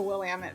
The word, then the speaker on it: Willamette: how to pronounce the Willamette Valley. So there Willamette. with you. I will never forget. I went to Willamette University. It's Willamette, damn it.